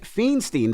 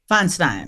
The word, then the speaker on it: Feinstein: talk about uh Diane feenstein did I say her name right Feinstein Feinstein now what happened with